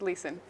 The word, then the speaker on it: Leeson: hirschmann lean and alex chavaniac guess they're right pronounced correctly yes and it's leeson sometimes it's difficult with the uh with the